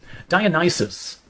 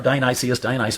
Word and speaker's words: Dionysus: Dionysus, or Dionysius, different pronunciations, gathers from Nysa on Flaw Island.